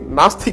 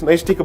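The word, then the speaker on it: naishtika: least in most places can't even pronounce this particular thing properly in fact in in the court most of the time I heard people calling it masta compromise area when in fact it's nice tika brahmacharya they turned it to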